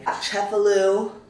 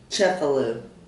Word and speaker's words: Cefalù: just kind of annoying chefalu I need to make sure I'm saying that right chefalu kind of I I think I was saying it right but my accent was off um I'm really struggling